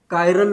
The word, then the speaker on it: chiral: कायरल पढ़ना है, ठीक है। कायरल, क्लियर है? स्पेलिंग CHI से है, लेकिन पढ़ना क्या है इसको? कायरल पढ़ना है, ठीक है।